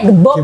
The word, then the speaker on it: GBOB: Dibaca Jibob bisa, biasanya orang kalau ngomong Jibob ya, karena kan kesannya kayak ke barat-baratan. Cuma kalau kita biasanya manggilnya, kalau nggak Jibob ya Jibob gitu. Segampangnya aja sih, ngucapnya. Kalau Jawa bacanya Gebob sih.